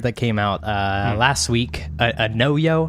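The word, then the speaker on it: Anoyo: A No-Yo, I think is how you say it.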